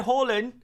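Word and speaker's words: Haaland: just want to confirm the way I say Holland is not incorrect it is just the Norwegian pronunciation and you guys hopefully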